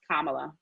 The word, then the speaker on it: Kamala: want to say about the kamala episode it's pronounced kamala that's the name of the episode go vote